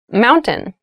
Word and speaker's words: mountain: it sounds like Mountain the T sound is reduced the little town was